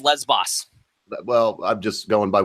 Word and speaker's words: Lesbos: No, that's rumor, and it's pronounced Lesbos.